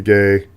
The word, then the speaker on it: Guay: mud of the mixture a totally Spanish pronunciation we get it's very very gay um the Rebecca gay muddle the mixture uh